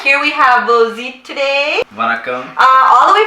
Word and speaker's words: Vozhi: Vozhi, am I saying that correctly? You're saying it correctly.